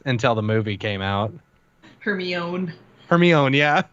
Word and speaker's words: Hermione: I don't remember what word it was, but I didn't know how to pronounce Hermione's name for like the first 3 books until the movie came out. Hermione.